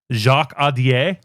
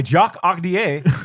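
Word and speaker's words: Jacques Audiard: Jacques Audier is how I'd say that. Why, Jacques Audier?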